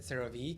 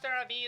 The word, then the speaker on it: CeraVe: I remember I said CeraVe and people were making fun of me. Oh, it's not CeraVe. It's pronounced CeraVe.